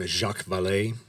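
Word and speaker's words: Jacques Vallée: and then of course since it's French a final E that you don't actually pronounce.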